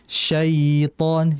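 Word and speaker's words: شيطان: Sai harusnya sitan sitan sitan bukan syaitanirrajim.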